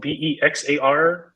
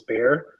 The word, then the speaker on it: Bexar: release which is spelled b-e-x-a-r for the longest time i would pronounce it as bexar but it turns out that it's pronounced as bear i mean like that's